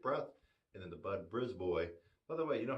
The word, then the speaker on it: Brisbois: It looks like you might pronounce it Brisbois, but no, Brisboy.